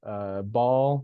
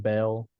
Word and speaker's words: Baal: The one that's standing up, that is Baal, or Americans a lot of times pronounce it Bel.